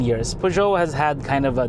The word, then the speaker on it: Peugeot: You know, it's, for the record, it's Peugeot, not Peugeot. You know, I mean, it's typical French. They spell with 10 or 20 letters, but only pronounce 6.